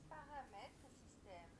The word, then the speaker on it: Paramètres système: Paramètres système. I was pronouncing crap essentially.